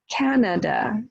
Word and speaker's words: Canada: Canada, Canada, Canada is 3 syllables, right? First syllable stressed, Canada.